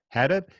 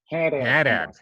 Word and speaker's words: Haddad: copywriter and info products publisher Haddad, and that's how they say it in Whatever. Boston, right? And They say Haddad. Haddad.